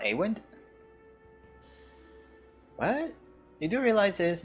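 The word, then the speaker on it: Eyvind: 1, I kept on calling him Awind, but in the recap of Banner Saga 2, I heard his name to be Iwind. So now I'm like jumping back and forth towards to like different pronunciations of his name. So I just call him mostly like Iwind.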